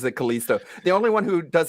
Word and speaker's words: Callisto: The Callisto protocol, which is, again, like no one pronounces it Callisto. The only one who does it worse is Wings, who calls it the Callistico protocol.